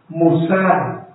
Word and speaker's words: musar: tomar el orden de las almas número uno musar musar m U S a r musar con